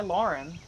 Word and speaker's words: Laughrun: My last name is spelled a little weird, but it's Lauren.